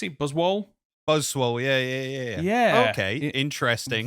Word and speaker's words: Buzzwole: Buzzwole? Buzzwole, yeah. Yeah. Okay, interesting. Very interesting, because it's obviously an Ultra Beast, so you'd like to think it's going to be quite, powerful. Buzzwole will kind of play like a Machamp that's